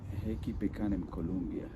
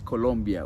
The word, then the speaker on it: Colombia: pronunciation says uhen colia it's not colia sorry guys it's Colombia with o but is it in